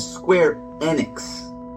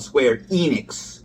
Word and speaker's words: Square Enix: hair yanking experience now I noticed you said square enex with like a short e I tend to call it Square Enix as in rhyming with Phoenix which sounds a lot